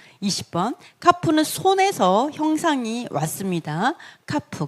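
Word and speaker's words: כף: 카프. 그래서 이것도 다게시가 있습니다. 크 발음인데요. 이게 없으면 약간 느낌이 크 이런 발음이라면 이 다게시가 있으면 이 발음 약간 차이가 있습니다.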